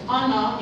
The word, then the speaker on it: honor: a few pronunciation um when you're pronouncing some words such as honor you don't put on the age all right so just